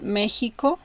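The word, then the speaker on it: México: of pronunciations for example the first one it will be like a soft J for for example Mexico Mexico it's not as stronger as letter H but it's not that weak neither uhuh so Mexico Mexico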